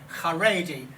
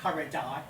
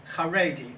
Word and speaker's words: Haredi: And that's pronounced Major General Haredi, not Haredai, Haredi.